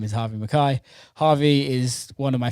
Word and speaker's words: Harvey McKay: So I actually introduced him wrongly on the podcast, but his name is Harvey McKay.